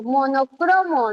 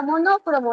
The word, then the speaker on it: monocromo: Croó, porque yo pronuncio monocromo, ¿no? No existe la palabra monócromo.